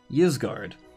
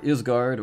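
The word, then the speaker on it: Ysgard: The spirit collar is Yizgard, or Isgard, or however you want to pronounce it.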